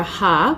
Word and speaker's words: Har: So it's a Kundalini yoga mantra, and the Sanskrit mantra Ha, which is spelled H-A-R, translates to God as the creative infinity, and it affirms our ability to co-create.